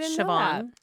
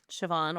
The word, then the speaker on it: Siobhan: In Irish, it's spelled M E BH, but kind of like Siobhan. Siobhan or Siobhan.